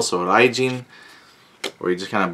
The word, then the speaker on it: Raijin: Then you have here Raijin. Yep, there's Raijin. If you do the R-I-A, Rai, or sometimes in Japanese pronunciation the R is like an L, so Raijin, or you just kind of blend it.